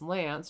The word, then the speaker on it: LAANC: So, the FAA has started with the LAANC program, or pronounced LANC, replaces the U.S.'s heavily